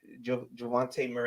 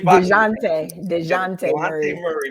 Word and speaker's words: Dejounte: So the guys that were added were Melo Ball and Javonte Murray. I'm saying his name wrong. I'm totally DeJounte Murray, my guy from Seattle, so from the Spurs.